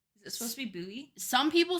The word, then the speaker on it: Bowie: indeed a town named Buoy Maryland but in Texas it's wait hold on it's pronounced buoy it's named after Jim